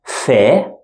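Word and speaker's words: ف: shift letters we have little Fe this one is normal if sound in English and the second one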